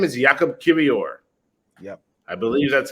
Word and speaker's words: Jakub Kiwior: His name is Jakub Kiwior. Yep. I believe that's how it's pronounced too. I'll let you pronounce it from now on. My Polish is not the best, but Jakub Kiwior is how it's pronounced.